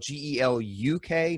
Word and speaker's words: Geluk: Furthermore, apparently, my name in proper Dutch is spelled G-E-L-U-K, not G-E-L-O-K, and apparently it's pronounced Geluk. So my last name is Geluk, and that's how you're supposed to say it.